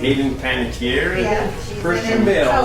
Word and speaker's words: Panettiere: Hayden Panettiere?